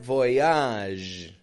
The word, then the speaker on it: bon voyage: a g e and notice that voage another one of those a sounds just like genre by the way if